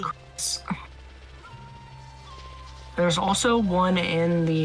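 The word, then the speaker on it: Kris: Now I gotta go defeat a pink-colored Marlboro called Chris, K-R-I-S. It'd also be pronounced Chris.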